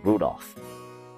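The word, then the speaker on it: Rudolf: just this anyway this guy's name is pronounced Rudolph he must hate grandfather for giving him that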